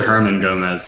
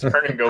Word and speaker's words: Hernan Gomez: Yeah, you said Herman Gomez, and that just like would be a hilarious name. That's what it's spelled on Twitter. That's why it threw me off. But it's Hernan Gomez.